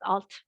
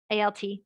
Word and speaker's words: alt: No, alt is just pronounced alt, A-L-T, alt, alt.